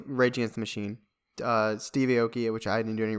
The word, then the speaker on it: Aoki: It's A-O-K-I, Aoki.